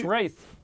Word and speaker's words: Wraith: Um, now that's Wraith. Wraith. That's with I in it.